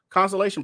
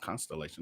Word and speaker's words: consolation: Or some of y'all think it was a consolation prize. Am I pronouncing that right? Consolation. Yeah. Not constellation. That's stars.